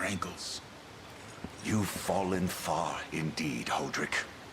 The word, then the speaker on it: Hodrick: Hodrick is not how I would have expected them to pronounce that. I would expect Hodrick. Kind of like Podrick.